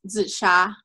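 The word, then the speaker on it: 紫砂: it I'm call it Zea yeah it's well the Chinese word is zisha because Z me Z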